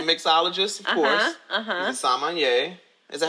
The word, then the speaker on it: sommelier: He's a sommelier. Is that how you say it right? Sommelier?